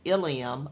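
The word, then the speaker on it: ileum: excuse me i-l-i-u-m yes sometimes in medical terms the words are pronounced the same spelled differently and have a different meaning so the spelling of Ilium i-l-i-u-m that means that's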